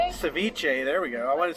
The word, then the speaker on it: ceviche: had way too much food yeah the uh Sur ciche Ceviche there we go I want to say Sur